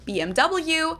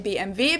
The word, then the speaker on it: BMW: In English, people say BMW. In German, we say BMW because W is pronounced W in German, and it stands for Bayerische Motoren Werke, which means Bavarian Engine Works.